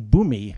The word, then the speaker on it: Bumi: was home that was earth king bumi which rhymes with bunny sort of okay yep